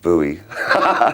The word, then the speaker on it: Bowie: Uh, I always thought it was Bowie, but I thought, well, it's a Scottish name. Must be Bowie. But nobody in Scotland pronounces it like that.